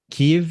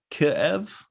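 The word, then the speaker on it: Kyiv: the spelling also that's why it's changed but Kiev is wrong and Kiev is the Russian way so both are wrong instead of a double syllable there it's curve Kev kind of yeah I mean I I don't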